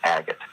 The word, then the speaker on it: Agate: one and that's for Agate came from so Agate is the preferred pronunciation but there is an argument to be made for a gate it is usually said as agate agat oh God damn